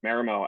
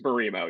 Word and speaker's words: Mimo: Um, and Marimo actually has or Mimo, sorry, I feel like I keep saying it wrong. It's Mimo. Yeah, Mimo. That's how we say it. It's technically a Japanese word.